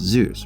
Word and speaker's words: Zeus: as a kid asked you do know it's pronounced zeus right once in middle school i was invited